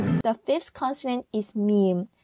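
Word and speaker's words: 미음: The fifth consonant is meme. The pronunciation is similar to the English alphabet M, and it makes a sound when the upper and lower lips touch each other.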